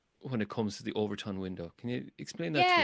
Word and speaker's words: Overton window: And then you introduce this term, if it's okay, the Overton window. Did I pronounce that correctly?